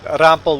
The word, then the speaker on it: Rampel: And Rampel would be the way you pronounce it in German. So I'm actually Juan Rampel. You roll the R and put an A instead of an E. And then you're pronouncing it the German way.